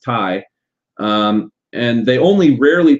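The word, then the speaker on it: taille: or the land tax the tie and I know that looks like Tales or something like that but it's pronounced Tai um and they only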